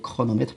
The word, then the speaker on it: chronomètre: chante ici chronomètre chronomètre alors laissez la lettre ou bien les lettres ch se pensent qu et non pas ce n'est pas trop me mettre c'est chronomètre pourquoi parce qu'il ya la lettre r ici il y a un